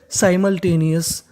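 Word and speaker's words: simultaneous: ओ यू एस को हम लोग इंग्लिश में पढ़ते हैं अस, यानी कहीं पर आपको ओ यू एस लिखा मिल जाए तो उसका उच्चारण करना है अस। तो पूरी मीनिंग क्या बन गई हमारी, साई मल टे नी अस, साइमल्टेनियस।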